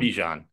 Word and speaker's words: Bijan: You said, oh, God, I'm talking myself into Bijan. Is that how you say it? Bijan? Bijan.